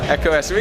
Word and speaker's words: Ekow Essuman: Ekow Essuman, point fighter. I didn't say it right this time. Ekow Essuman. Yeah, you said it right, man.